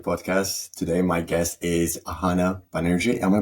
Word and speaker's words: Ahana Banerjee: Today, my guest is Ahana Banerjee. Am I pronouncing correctly, by the way?